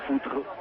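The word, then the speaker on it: Futre: Vous êtes sûr de la prononciation de votre Foutré, F-U-T-R-E, en portugais, c'est ça? Ben, je pense, oui. Ça Foutré. Ou Foutre. Voilà.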